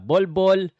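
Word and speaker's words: Bol Bol: Ay, mali yata 'yung pagka-pronounce ko. Ball Ball. Kasi po 'yung ball 'yung first name niya, 'yung last name niya ball. Okay. So ang pangalan lang talag talaga niya Ball.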